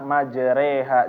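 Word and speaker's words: مجريها: Bismillahi majareha majareha nah fathah dimiringkan menjadi kasrah dan Alif dimiringkan menjadi Ya seperti e orang Timur ya ditulis orang timur di sini ya nah jadi bapakbapak membacanya adalah majreha jadi ee kalau misalnya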